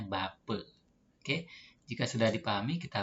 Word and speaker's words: Bapak: Selanjutnya huruf A di belakang sebuah kata dibacanya E. Misalnya Bapak. Nah, sebagai contoh Bapak. Tulisannya Bapak dibacanya Bape.